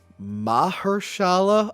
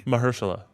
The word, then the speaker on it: Mahershala: right I get it wrong all the time mahershala Ali mahershala mahershala I I Googled it a couple times